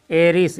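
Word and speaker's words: heiress: एरिस पढ़ेंगे ठीक है उच्चारण एन में आता है इसलिए इसमें एन लगता है एन एरिस एन एर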